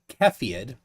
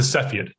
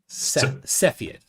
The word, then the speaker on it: Cepheid: all good all right so so that's a kefird and i had been mispronouncing it incorrectly in my head it's a cepheid cepheid okay now it's from the constellation cepheus all